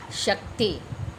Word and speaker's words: शक्ति: शक्ति।